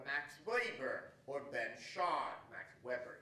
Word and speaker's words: Max Weber: Max Weber, he pronounced it, or Ben Shahn.